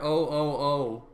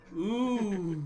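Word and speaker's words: OOO: Saying it like how it's spelled. Next, you're gonna say Kamen Rider O. No, Kamen Rider. Ooh.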